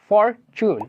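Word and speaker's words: fortune: হিসেবে ব্যবহৃত হয় অর্থাৎ শব্দের শেষে ব্যবহৃত হয় তাহলে এর সাউন্ড হবে চুন। যেমন আমরা বলতে পারি ফরচুন।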